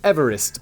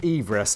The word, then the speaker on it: Everest: Which Simon has just wrongly pronounced Everest, but it should actually be pronounced Everest to match the surname of the British surveyor who discovered it.